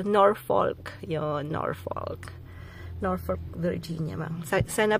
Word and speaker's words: Norfolk: Kanina po kasi nag-shoutout ako sa garden, kaya lang mali yung pagka-pronounce ko ng Norfolk. Ginawa kong Norfolk. Ginawa ko inuna ko yung L sa Norfolk.